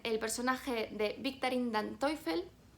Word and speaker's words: Teufel: Y dentro de los rompedores destaca también el personaje de Victorine Dan Teufel. Bueno, yo lo pronuncio en alemán, pero se escribe Teufel, que es una ex